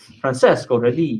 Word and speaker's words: Francesco: an italian you should we should have said francesco you gotta say it like that and then and then